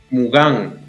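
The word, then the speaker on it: Mougins: Está el, ¿cómo es el equipo Mugins? ¿Cuál es la pronunciación? Mugán.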